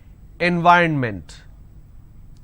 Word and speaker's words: environment: y run meant so this is the correct pronunciation environment and the mistake that you end up doing is you end up pronouncing n v ron mint now this is wrong it's not environment it